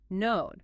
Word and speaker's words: know: Past simple knew, past participle, node. And this one has that classic silent letter, right? It does. The K at the beginning of all forms is completely silent.